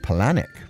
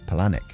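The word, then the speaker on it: Palahniuk: I've heard it pronounced panic. Palanic. Palanic. That's probably correct.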